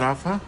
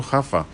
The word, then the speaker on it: Rafa: It's not Rafa? Yeah, you've been pronouncing it incorrectly all this time. Oh! Oh, yes, because it's not Ronaldinho, it's Juanadinho. Yes, that's true. Okay, so Hafa.